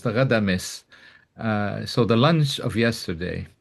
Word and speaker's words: Ghadames: So it's Ghadames. This is how it probably should be pronounced, Ghadames.